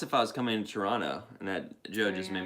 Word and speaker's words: Toronto: Toronto, that's how you say it. Pete and the guys taught me. Toronto.